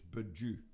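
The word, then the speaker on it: bijou: it's in the verses it's baju but it's like sort of a bad french pronunciation of the word jewel which of course as you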